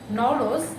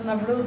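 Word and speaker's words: Nowruz: The other word, Nowroz, sometimes Novroz is also pronounced as Nowroz in some other areas.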